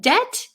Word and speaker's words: debt: Yes, in debt, the B is silent.